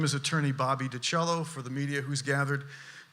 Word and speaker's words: DiCello: My name is attorney Bobby DiCello. For the media who's gathered, B-O-B-B-Y-D-I capital C-E-L-L-O, like the instrument DiCello is how you pronounce it.